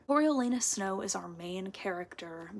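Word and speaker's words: Coriolanus: to say it wrong cor lanus I'm pretty sure is how you say it cor lenus snow is our main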